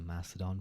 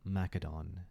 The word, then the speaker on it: Macedon: maedon or maedon because technically back then uh I believe ancient Greek did not have the the soft sea uh that was a development that occurs later uh so I know I I probably I imagine most people probably do use the Macedon pronunciation I do sound cool but maedon is a is the way I would do it or but yes we're